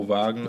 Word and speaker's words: Wagner: It's a V. Mo Wagner. Yeah. Did y'all watch? Y'all watched the Wagner. Yeah, it's spelled Wagner.